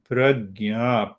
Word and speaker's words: pragya: And the fifth one is known as pragya. Pragya, the word pragya, two-syllable word.